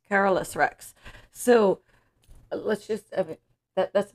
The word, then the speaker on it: Carolus Rex: cover and it is say it wrong Carol Rex I'm like is it is it what it looks like carus Rex carolus Rex so let's just that